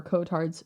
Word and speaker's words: Cotard: walking corpse syndrome or Kotards syndrome is actually Kotards. That's his name. I could be pronouncing it wrong. C O T A R D. That's exactly how you pronounce it.